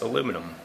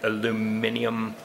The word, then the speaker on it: aluminium: This is aluminum, or this is some alloy of aluminum. If you add the extra syllable aluminium, that's fine. I don't care. It doesn't interest me. Here, we call it aluminum.